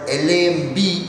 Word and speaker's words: lamb: For example, L-A-M-P is lamp with a p sound, but L-A-M-B is only lamb. There is no b sound.